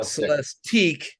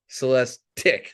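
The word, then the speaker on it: Celestiq: the new Cadillac celesti okay not celesti celestic they're very rhymes with lyric their other new EV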